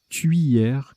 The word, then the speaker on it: tuyère: Je pense qu'ils ont voulu dire tuyère comme cuillère, en fait.